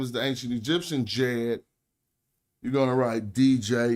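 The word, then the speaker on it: Djed: But this capital D is not said like a D. To pronounce it, you say it more like a J. So when we say the Jed pillar, do you even hear a D?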